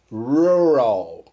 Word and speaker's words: rural: Officially, né, oficialmente, the correct pronunciation is rural, né? Oficialmente a pronúncia correta é rural. Our vowel sound as the stressed syllable.